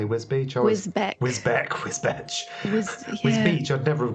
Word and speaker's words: Wisbech: I mean, we live near Wisbech, but it's spelled Wisbech. So before I heard people say Wisbech, Wisbech.